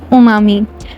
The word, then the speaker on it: umami: Most of the people pronounce this word umami. It's U silent and we can say umami.